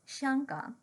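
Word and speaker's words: 香港: The name of Hong Kong, the Mandarin pronunciation of which is Xianggang, literally means the fragrant harbor or the incense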